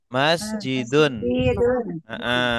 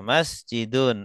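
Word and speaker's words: مَسْجِدٌ: Masjidun. Akhirnya harus dibaca. Tidak boleh masjid. Harus dibaca akhirnya. Masjidun.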